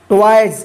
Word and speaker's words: toys: they, HAVE, have, TOYS, ट्वाइस, देखिए वाई के बाद लास्ट में एस लगा है तो एस का ज उच्चारण होगा, ट्वाइस, they have ट्वाइस, अ